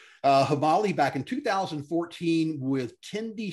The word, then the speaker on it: Himali: So Dave Schaeffer started the company Himali. Am I pronouncing that correct, Dave? Yeah. All right. Himali back in 2014 with Tendi Sherpa.